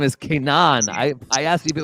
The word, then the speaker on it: Kaynan: said your name is Canaan I I asked if it was Kanan you said yes no I look stupid yes I pronounce it like you know like Hebrew in a way but like I don't